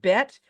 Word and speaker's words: Bet: And that one is called Bet because it makes a B sound like ball.